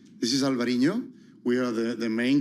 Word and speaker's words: Alvarinho: Um I don't want to uh mispronounce Balasto Tanat um Alberino. Alvarinoho. It will start with a with a white wine. Yeah, it's this is Alvarinho.